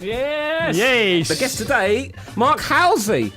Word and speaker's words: Halsey: Halsey.